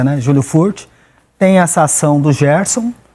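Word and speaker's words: Júlio Furch: com o Júlio furt isso isso mesmo a pronúncia né Júlio furt tem essa ação do Gerson a gente já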